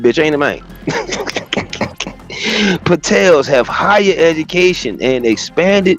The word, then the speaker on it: Patels: They should name rhyme with hotel. You know what I mean? Just change the two letters in the in the front of that the money. Patels have higher education and